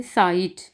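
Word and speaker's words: Zeit: सेट, जेड की आवाज़ हमने निकालनी है, सेट, और इस सेट पढ़ना है, और इसको हम पढ़ेंगे साइट। शुरू में जब भी सेट आएगा तो सीन की आवाज़ आएगी, साइट, वक्त। आगे आ जो है जब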